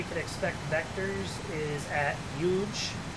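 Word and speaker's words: HUUGE: expect vectors is at huge it's actually just called huge but it's spelled h-u-u-g-e so that's that's kind of funny um the dme will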